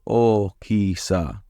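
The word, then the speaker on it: 大きさ: Now, the thing that trips me up here is that there are two O's, so it's okisa. But it just kind of comes out as like one longer, like O sound.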